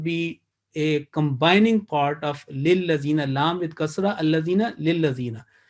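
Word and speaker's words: لِلَّذِينَ: The right concept and this pronunciation will be, or understanding will be, that this lam maksur or disjointed lam is basically is a part of the next word, which is lillazina.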